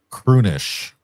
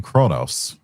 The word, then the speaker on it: Kronos: And they're from the then they're from the planet Kunish. Now, it's supposed to be Kais in Kronos. It's always been Kais and Kronos until they forgot how to pronounce it in into derpness.